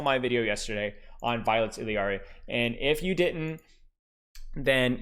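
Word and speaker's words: Illari: So anyway, if it's Spanish, it's Iyari. If you're a white boy like me, it's Hilari, but it's technically Iliari.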